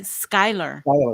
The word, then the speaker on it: Schuyler: way it's messed me up with Schuyler Virginia it's spelled Schuler Schuler s-c-h shooter but they say Skyler and it totally threw me off yeah the